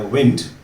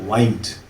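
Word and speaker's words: wind: Look at this spelling, तो शायद pronunciation मन में आएगा विंड, जो हम हवा के लिए यूज़ करते हैं। पर जब आप इस वर्ड को, इसी स्पेलिंग को आप यूज़ करेंगे एज ए वर्ब, तो जो प्रोनाउंसिएशन है वो होगा वाइंड।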